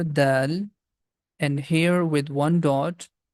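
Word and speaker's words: دال: The first one here, that's letter Dal, and here with one dot, that's letter Dhal.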